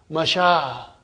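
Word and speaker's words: مشى: In this, the ya remains ya, but it is pronounced ah. It is pronounced ah. Masha.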